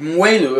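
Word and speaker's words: moelleux: or the region of mueller if it says on the label it's going to be sweet and that mueller is spelled as spelled m-o-e-l-l-e-u-x so if you see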